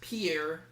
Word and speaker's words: Pierre: say capitals three state whose capital is properly pronounced pierre what is south dakota if i had missed